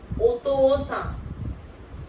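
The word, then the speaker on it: お父さん: ओतोसा, ओतोसा means है father, ओतोसा।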